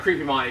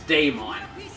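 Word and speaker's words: Daemon: called him that no it's not creepymon it's Daymon D AE M and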